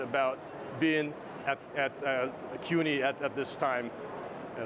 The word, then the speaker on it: CUNY: being at at uh cuni at at this time you know that's how you say it cuni yes okay that's how